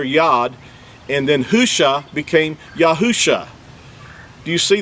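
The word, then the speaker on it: הושע: If you look this verse up, you'll see that where it says Hoshea, that, first of all, that's not even an accurate transliteration. The actual word is Husha.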